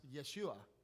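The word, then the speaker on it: ישוע: Joshua, which his name is actually pronounced Yeshua, which is the same name as Jesus, by the way.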